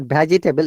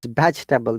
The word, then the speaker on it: vegetable: moment here dozing grocer remember it's not vegetable it's vegetable this is silent yes vegetable vegetable and